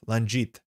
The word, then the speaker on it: Langit: The soft G like in giraffe. Langit. Langit? Like gel. Not a hard G like a GIF. Kato. You know that's going to be confusing for many. Langit. Like a J.